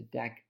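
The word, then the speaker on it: deque: container is the deck container and yes it's pronounced deck and deck is an irregular acronym for double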